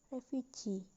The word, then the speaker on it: refugee: the last level example refuge plus suffix e so the word became refugee the primary stress is on g and the secondary stress is on ref the next example is